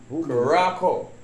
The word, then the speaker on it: Curaçao: Curaçao. Curacao. That's it. It pronounced Curaçao.